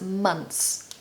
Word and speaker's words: months: make life easier so you can get away with pronouncing this as months everyone will understand you